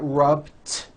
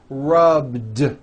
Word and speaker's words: rubbed: yesterday I rubbed it all I did was add a voiced D sound at the end rub do it's not rubbed with an unvoiced T it's rubbed like that here's another example clean